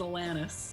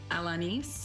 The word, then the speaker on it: Alanis: us the correct pronunciation there is no correct i've really come to terms with the fact the canadian version is atlantis yeah but a lot of people say alanis elena's alanis oh i really don't